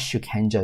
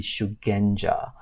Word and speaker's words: Shugenja: because it seems like Shukenja is actually incorrect. The correct word should be Shugenja.